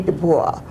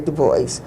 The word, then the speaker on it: Du Bois: Du Bois, if you pronounce it the French way. Most people say Du Bois, but he had a French pronunciation.